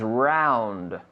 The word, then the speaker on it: round: Round. Como la taza aquí. The table is round. ¿No? Round. Round. Round no vale. Round. Con la D.